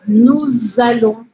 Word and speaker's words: nous allons: de pronúncia do francês, que o S eu nunca falo no final da palavra, no caso, quando a próxima palavra começa com uma vogal, eu sim pronuncio essa letra.